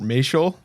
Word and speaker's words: Maciol: Today I have Sheriff Mel. I said it right. You got it. Mel rhymes with facial.